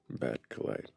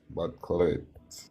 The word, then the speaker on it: Batcolyte: Batcolyte. Batcolyte. Like an acolyte.